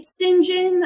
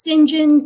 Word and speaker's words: St John: article was scene by singen uh it's spelled St John but it is singen Terell he apparently was